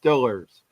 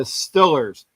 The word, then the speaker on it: Steelers: It's Stillers. It's the Igles and the Stillers.